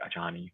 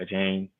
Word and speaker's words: Achane: I always be like Achani, but Achane, he's back.